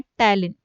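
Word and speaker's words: ptyalin: यह यहां पर साइलेंट हो जाता है और इसको टैलन बोला जाता है।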